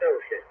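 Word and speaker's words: Wouxun: looks like Wson, but from what I've been told, it's pronounced ocean.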